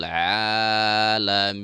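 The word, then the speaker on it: العالمين: Nah, di saat kita membaca maka di saat ini kita jangan membacanya ke hidung ya. Sebahagian yang kita temui ain ini seolah-olah larinya ke hidung, padahal ain itu adalah bahagian daripada huruf kerongkongan, atau dalam ilmu tajwid biasa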